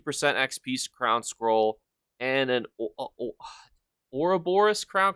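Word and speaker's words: Ouroboros: XP scroll and an Ora Boris Crown crate which I'm pretty sure that's how you actually pronounce it because everybody's always like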